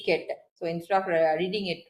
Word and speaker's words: ket: That is, if I am breaking down it further, so this vertical bar is pronounced as ket, and the Greek letter, this Greek letter is pronounced as psi.